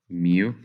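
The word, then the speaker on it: μ: higher coefficient of friction this is pronounced if you want as mu it is a greek letter it's like a u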